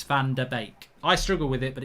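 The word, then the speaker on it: Van de Beek: might be wrong but i think it's pronounced van der beck rather than van der beek it's bake it's bake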